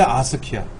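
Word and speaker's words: ASCII: 그래서 통신용 코드를 만들었는데 아스키야. 그거를 아스키라고 읽어요. 아스키.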